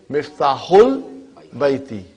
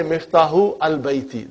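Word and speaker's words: مفتاح البيت: So you will say Miftahul Baiti. Huh? You cannot say Miftahu al Baiti. That will be wrong. Huh?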